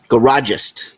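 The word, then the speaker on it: Garagiste: Garagist is what Brian is saying how it is pronounced.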